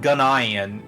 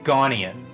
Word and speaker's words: Ghanaian: I looked up the pronunciation and it's spelled Ghanaian, but it's pronounced Ghanaian. Ghanaian.